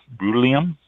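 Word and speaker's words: Bruliam: I mean, it just everybody wants to be unique, and nobody can pronounce it properly. B-R-U-L-I-A-M. Brulium.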